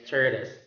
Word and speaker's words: tortoise: Last example for that sound is tortoise. Tortoise. Tortoise. Silent letter E, tortoise. It's not tortoise.